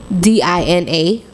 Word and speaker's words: Dina: D-I-N-A. Dina. Oh. Is it actually pronounced Dina? Yes. Okay. Dina? You call me Dana.